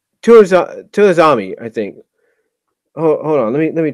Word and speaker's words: Osamu Tezuka: can't I'm trying to pronounce his name it's tours to Asami I think oh let me check Osamu Tezuka Osamu Tezuka I'm sorry that I'm sorry pronounce it wrong tsuki Osama Kazuki was the